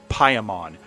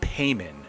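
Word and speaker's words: Paimon: And it's pronounced Pyon, not Payman.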